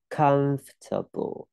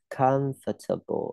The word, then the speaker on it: comfortable: Chọn âm dương bằng từ comfortable, fortable như fortable chứ không đọc for table là sai ha. Fortable giờ nhỉ? Comfortable ai đọc là comfortable là sai. Comfortable mới đúng.